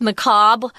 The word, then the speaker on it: macabre: It's macabre. It's a French word. It's spelled kind of weird. M-A-C-A-B-R-E. Because I learned French, I tend to say macabre.